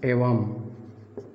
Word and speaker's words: एवं: का भी प्रयोग है इसका उच्चारण मैन की तरह समझा जाएगा मैन की तरह माने एवं ठीक है तो